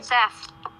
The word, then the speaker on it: Seth: That's Seth. What? That's Seth. That's no name. His name rhymes with meth.